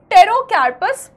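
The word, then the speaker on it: Pterocarpus: botanical नाम देखेंगे तो टेरोस सेंटली ठीक है सेंटलेस याद किया जा सकता है टेरोस ये पी साइलेंट होता है इसमें टेरोस सेंटलेस इसका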